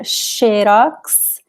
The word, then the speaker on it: xerox: So we have the, it sounds like SH in some cases, like xerox.